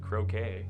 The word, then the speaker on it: croquet: Not to be confused with croquet. Nope. Which... Rhymes with... Bouquet.